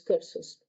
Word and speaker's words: Corse: antes hubiera nacido libre, corso libre. Entonces, interesante también esta perspectiva, porque ¿quién fue Napoleón? Fue el emperador de Francia, ¿no? ¿Cómo pronuncias Napoleón en francés? Napoleón. Napoleón. Bonaparte. Corse se dice cors.